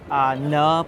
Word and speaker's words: Nhut: Nhut pronounced like Nathaniel or chicken nuggets.